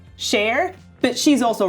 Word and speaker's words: Cher: And I know that Cher pronounces her name Cher, but she's also wrong.